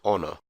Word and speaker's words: honor: The letter H can also be pronounced silently, as in honor.